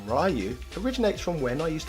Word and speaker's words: Ryu: bloody reading the text the fact that Ryu is spelt a lot like Ryan meant I could use my knowledge on phonics to lead me to the conclusion